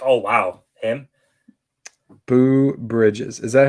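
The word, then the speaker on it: Beau: Boo Bridges. Is that how you spell his name and everything? I think it's actually pronounced like Bew.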